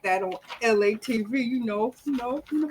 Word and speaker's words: Elay: what's up it's me la pronounced like ellie like the city i'm not from there